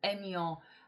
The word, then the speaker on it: Aignan: Our village is the five-pointed star, and my village is called Aignan, and that is egg. It's spelled A-I-G, and my village is in the heart of the five-pointed star.